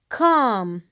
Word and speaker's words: calm: Calm. The L is silent.